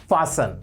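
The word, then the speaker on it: fasten: फास्टन your seat belt नहीं होता, इसमें टी साइलेंट होता है और हमें पता नहीं होता, तो क्या बोलना है इसको? फासन।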